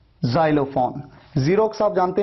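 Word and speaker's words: Xerox: Pronunciation में देखिए एक्स को आपने कैसे प्रोनाउंस किया, ज की तरह।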